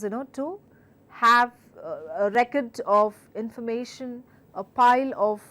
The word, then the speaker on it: record: could be something like words such as record and record record record now one word has different meaning and different pronunciation different and used in different context altogether so when I say record I am stressing or the first part of the word it's a noun and I clearly mean to record the songs to record the speech but when I say record I clearly mean it's a verb and clearly